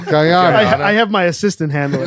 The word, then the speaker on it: Guyana: That's where I get all my molasses is guana. Is Guyana? Yeah, Guyana. No, exactly. Guana. So You're nailing the pronunciation. Guyana.